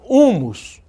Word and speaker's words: húmus: são escritas no entanto Olha lá húmus a gente não pronuncia esse h e ele tá escrito isso é uma contradição